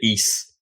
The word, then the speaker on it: Ys: Ease Origin, or YS, like they pronounced it Ease on stage, so I guess that's how it's supposed to be.